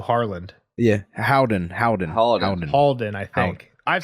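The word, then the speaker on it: Haldon: I've said Holden every time, but it's an A. That is my fault. Every time I said Harlan, put Halden in. Half Maester. I replaced the A with the O, so I've said it wrong too, but...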